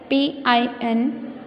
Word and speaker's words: pin: The word P-I-N, pin, has one vowel sound I, but it's pronounced like E.